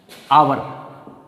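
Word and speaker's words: hour: जैसे मान लो मैं ले लूँ आपके सामने आवर। अब आप इसको देखेंगे तो ये एच से प्रारंभ हो रहा है लेकिन इसका जब उच्चारण करेंगे तो आवर आ रहा है, इसलिए अपन इसके साथ आर्टिकल क्या भरेंगे, एन।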